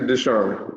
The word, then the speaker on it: Deshawn: deshawn uh first off is it dishon or does shawn i know it's spelled with an a i learned that the hard way uh uh actually deshawn yeah all right cool i